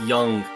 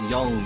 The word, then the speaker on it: Yang: Yeah, Yang's pretty great. No, I found one girl. It's Young. I keep I keep keep mispronouncing it. It's Young, not Yang.